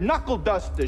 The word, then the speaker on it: knuckle duster: That's when K is at the beginning of the word, but you don't pronounce it, like in the word knuckle duster.